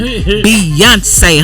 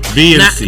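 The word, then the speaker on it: Beyoncé: I'm gonna need her to learn how to say her name, Beyonce, honey. Beyonce. Not Beyonce or Beyonce or whatever she was saying.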